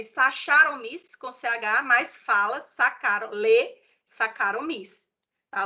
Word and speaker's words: Saccharomyces: Escreve Saccharomyces com CH, mas fala Saccharomyces. Tá? O CH tem som de K, tá certo?